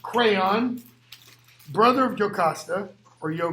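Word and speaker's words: Creon: priest you got and his name is pronounced crayon brother of Jocasta or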